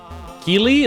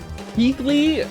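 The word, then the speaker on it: Keighley: Keely like Jeff Keley Jeff G game awards key not pronounced like that.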